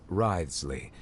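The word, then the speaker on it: Wriothesley: I mentioned that I have had personal dealings with the administrator of the fortress, Writhsley. He's a very shrewd I still can't believe fellow. That's how it's pronounced.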